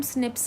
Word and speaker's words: SNPs: ठीक है, SNPs को हम SNPs करके प्रोनाउंस करते हैं, है ना।